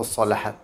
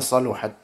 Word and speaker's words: صلحت: Kalau di kitab-kitab atum saluhat atau salahat? Salahat. Tapi sebagian membacanya saluhat.